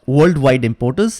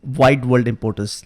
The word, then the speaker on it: Wide World Importers: I pronounce this right it's not worldwide importance it is wide world importers let's change the database